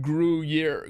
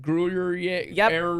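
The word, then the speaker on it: Gruyère: of cheese yeah g-r hold on oh man g-r-u-y-e-r-e i think no now it's gonna be i'm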